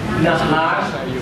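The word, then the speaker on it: נחש: In Hebrew, the fiery serpent is nahash sirah. Have you noticed this? Nahash means snake. It rhymes with ahas in Tagalog.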